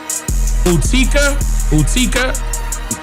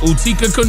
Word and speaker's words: Utica: It's pronounced, wait man, Utica, New York, Utica.